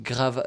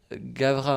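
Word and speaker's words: Gavras: Je trouve que ça a été Gavra ou Grava, non, Gavra, hein, je crois. Ouais. Tu prononces le S ou pas, mais qui a été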